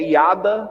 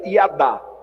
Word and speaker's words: yada: aquele símbolo ali é hiada no hebraico na verdade não se pronuncia assim né se pronuncia e adah mas a gente é